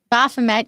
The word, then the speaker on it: Baphomet: I'm going to pronounce this wrong. Baphomet? Baphomet? Baphomet, yep, is transgendered.